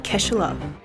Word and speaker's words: Kaechele: This woman is Kirsha Kaechele I pronounce her last name wrong. So here's an actual clip of her last name from a reporter. Kirsha Kaechele I'm making this video